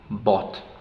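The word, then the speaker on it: bought: By que es comprar Bot pronunciamos b b la o más u hacen el mismo sonido anterior o bo bo la gm más la H no se pronuncia y la te final Bot Bot Bot Entonces ya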